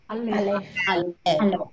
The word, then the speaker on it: Aleph: And what are the 2 silent letters that you have learned? The very first one is Aleph. That's right.